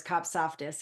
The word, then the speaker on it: Kopsaftis: kofus if they but of course cop sofus is kind of a a handle my husband jokes and says it's only three syllables and it's very phonetic I go yeah but